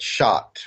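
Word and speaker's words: Chartres: let's just use the labyrinth that shot which is also it's spelled CH a TR es in in shot France what one does is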